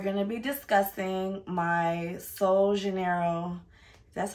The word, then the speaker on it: Sol de Janeiro: today's video we're going to be discussing my soul Janeiro that's how you say it yeah soul Janeiro